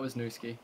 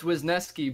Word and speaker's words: Wisniewski: I do oh wow no it's not was new Sookie that's embarrassing it's Wisniewski but if you actually